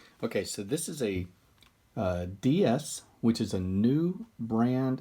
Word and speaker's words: DS: a play on words ds can mean different spirit or distinctive series d s and french also sounds like the word for goddess so it's kind of